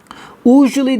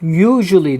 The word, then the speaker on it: usually: Usually diye okunmuyor. Usually diye okunuyor. Dikkat.